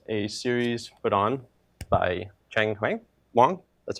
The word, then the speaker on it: Cheng Wang: This is a series put on by Cheng Wang.